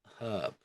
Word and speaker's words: herb: is not always pronounced the H is pronounced in the word herb okay and contrast up